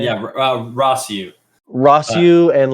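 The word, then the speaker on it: Rossiu: those characters like rosu is that how you pronounce that name yeah rossu rossu and like Kiton start to like play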